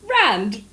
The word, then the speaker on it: rand: Especially the rand. You say it like you live in the upmarket areas. I don't know Oh how my to gosh. fucking pronounce it. Like rand.